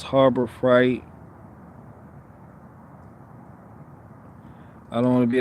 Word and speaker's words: Harbor Freight: that guy but it's harbor fright not harbor that harbor fright oh i'm not saying freight oh goodness it's harbor fright so i say pronounce freight harbor fright all right i'm from